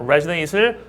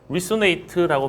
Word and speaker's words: resonate: 이명 선님은 이제 resonate라는 단어를 resonate이에요. resonate z 발음입니다. resate을 resonate라고 발음하셔서 이것도 말씀 안 드리면 또 잘 모르실 것 같아 가지고 언급을 해 드립니다.